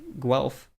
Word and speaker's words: Guelph: they are creating tools now the University of Guelph am i pronouncing that right they're really Guelph it sounds